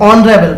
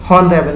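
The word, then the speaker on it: honourable: हम उसको पढ़ेंगे तो हम ऑनरेबल पढ़ेंगे, हॉनरेबल नहीं पढ़ेंगे, तो हमारा साउंड वॉवेल होगा, हम एन भरेंगे।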